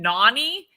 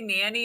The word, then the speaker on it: Nanny: she'll probably answer anyways i know it's spelled nanny but it's actually my nickname nani but we just spelled it wrong some people say nanny it's actually because